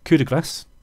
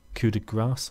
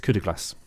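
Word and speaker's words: coup de grâce: It's called Coup de Grace, not Coup de Grace. How do people pronounce it? I can't remember how people pronounce it now. It's Coup de Grace. That's how it's pronounced.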